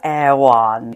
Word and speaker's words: Erewhon: Oh, Erewhon. Not to be called Erewhon, which is what I was saying until I went to the Erewhon in Culver City and they have it phonetically spelt outside the door.